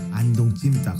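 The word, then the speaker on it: 안동찜닭: Everybody say Andong jimdak.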